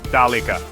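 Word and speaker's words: ذلك: Try saying dulk dalika. It has a strong sound which is cool.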